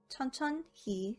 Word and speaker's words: 천천히: 천천 and 히. 천천, 히 is pronounced as 천천히.